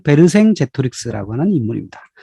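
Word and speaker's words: Vercingetorix: 자 여기서 등장하는 사람 벨킨 레트로 쓰 불어 발음으로는 베르 생재 트릭스 라고 하는 인물입니다 자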